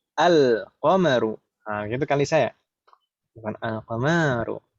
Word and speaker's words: القمر: An-najmu al-qamaru. Gitu kali saya. Bukan al-qamaru. Al-qamaru. Di sana juga beda cara bacanya. An-najmu. An-najmu. Langsung idgham. An-najmu. Sedangkan yang kedua al-qamaru. Lamnya terbaca.